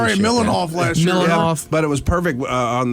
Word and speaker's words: Mihailoff: Mihailoff.